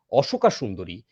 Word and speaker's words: অশোক সুন্দরী: তার যে স্ত্রী অশোকা সুন্দরী, এই অশোকা সুন্দরীর কথাটায় আমরা একটু ঢুকবো। আমার মনে হয় অশোক সুন্দরী, অশোকা নয়। ইংরেজি উচ্চারণটা ওরকম অশোকা সুন্দরী হয়।